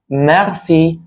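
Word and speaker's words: merci: كلمه اسمها شكرا شكرا اللي هي مخسي مخسي وخلي بالك ان حرف الار بيتنطق فيها غين شويه مغسي مغسي وهتعرف الكلام ده لما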